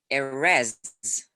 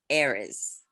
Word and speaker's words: Erez: the english language the tendency when you have two syllables in a word is to have the weight you know where you put the heavy um on the second syllable like tonight not tonight tonight and that is why whenever i talk to americans they call me arrests and not heiress my question for you